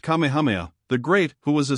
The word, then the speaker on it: Kamehameha: through Rifts in the cloud rack when kamehame pronounced Kamehameha the great who was a sort of a